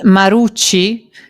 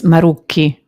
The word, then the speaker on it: Marucchi: And you said Marucci, which it isn't. It's Marucchi. Yeah.